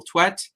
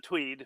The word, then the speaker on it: Twedt: usually pronounce it uh Tweed by the way uh but that's okay it's it's Norwegian derived so it's the pronunciation's a little bit uh uncertain but yeah I actually